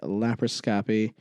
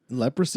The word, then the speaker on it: laparoscopy: Leprosy? Laparoscopy. Laparoscopy. There's no way you're pronouncing that right. LAP, lap, ARO, SCOPY, scopy. Laparoscopy. Laparoscopy. It's laparoscopy.